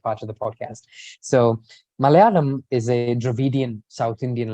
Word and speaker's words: Malayalam: How do you pronounce it properly? Maya Alam? Malayalam.